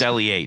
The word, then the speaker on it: L.E.H.: own what I own Le guitars Le guitars or maybe as as you out there have been pronouncing it l guitars but it's not L guitars it's just Le I don't think anybody